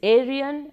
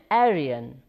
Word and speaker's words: Aryan: It is pronounced in both ways, Aryan and Aryan.